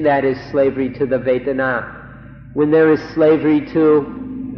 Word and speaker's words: Vedana: So we'd like to request, we implore you in fact, to remember this word Vedana, Vedana, or in Thai, Vedana. It's spelled in Roman letters V-E-D-A-N-A, Vedana or Vedana.